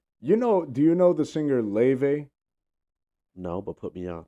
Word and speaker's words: Laufey: Do you know the singer Leve? No, but put me on. Leve. It's spelled like Laufey, but dude, she's so